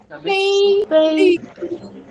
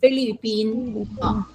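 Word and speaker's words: 菲律宾: You look at the tones, it's Philippines. Okay. I bet you've been saying Philippines. So okay. Philippines. Bin is B, not P.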